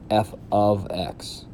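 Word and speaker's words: f(x): With function notation, we're going to use this symbol, f and in parentheses x, and it's pronounced f of x.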